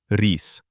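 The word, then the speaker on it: рис: Look at the word stress on e before e becomes soft re and a hard s at the end. Remember the tip of the tongue is at the lower teeth. It turns out to be reiss.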